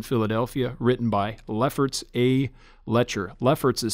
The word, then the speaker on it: Loetscher: church by guy named here hear this lefferts letter this book subtitled a study of theological issues